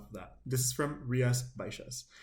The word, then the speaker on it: Rías Baixas: This is from Rías, Baixas. You're going to see it has an X in there, and that X is pronounced like a sh sound.